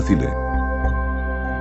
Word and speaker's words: Thule: Esto es porque en griego antiguo el nombre de Thule, que se escribe Thule, se pronuncia Thile.